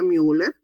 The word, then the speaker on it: Müller: Y esta conducto paramesonéfrico también llamado conducto de mer u l e r mu que pronuncia müller.